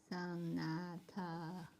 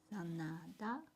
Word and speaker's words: Sanada: Sanata. That's a D. That's D. Sana. Sanada.